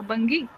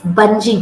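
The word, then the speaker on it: bungee: first word please yeah bangi no that's not bangi it's bngi jumping bung not bungi bung bung jumping okay next one okay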